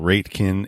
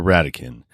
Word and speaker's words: Ratekin: episode started so apologize for that it's not rate kin it is sarah radicand and sarah is the chief happiness officer over